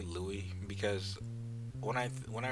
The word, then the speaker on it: Louis: know of it it's Louise when I think of Louisiana right but when I think of when I read this I think Louie as in Louis Vuitton like that so I pronounce it